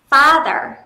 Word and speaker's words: father: Trọng âm dương vào âm tiết đầu tiên, thế nên âm tiết đầu tiên sẽ đọc nhấn giọng lên. Father.